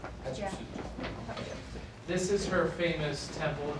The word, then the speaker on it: Hatshepsut: Hatshepsut. You say shoot? Yeah. Hatshepsut.